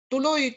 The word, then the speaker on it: tuloy: And so the accent to these words in the are always in the last syllable.